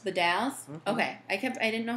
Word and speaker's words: The Dalles: How do you pronounce D-A-L-L-E-S? The Dalles. The Dalles?